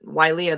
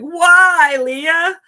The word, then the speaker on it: Wailea: And he basically said Wailea the way he knows this is. He said, just think of Star Wars. You're like, Wailea?